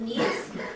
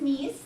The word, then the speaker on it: Nice: head to France and Nice. I don't have a picture of Nice up here, but Nice is kind of like Southern California. It is a resort town. It's pronounced Nice, not nice.